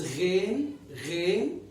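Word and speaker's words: غين: The name of the letter is Ghain, but this letter is called Ain. This is pronounced as a.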